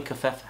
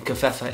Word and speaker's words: Covfefe: Oh, and I believe that the V in Covfefe is silent.